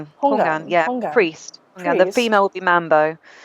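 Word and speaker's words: houngan: that you guys went to is it pronounced Hongan? Hogan? Hungan, yeah, Hongan.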